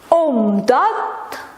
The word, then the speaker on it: omdat: Satu kata omdat. Jangan lupa D-nya omdat. Nggak bisa omdat. Ya sehari-hari kadang omdat ya. Tapi harusnya omdat because, karena.